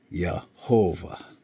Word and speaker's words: Yehovah: So it would be Yod, He, Vav, He. Yehovah, okay, which pronounced in English, Yehovah.